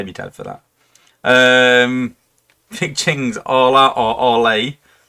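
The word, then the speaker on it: Orlah: Big Ching's Ola or Ole. Ola. Yeah, imagine like Spanish, Hola. Hola.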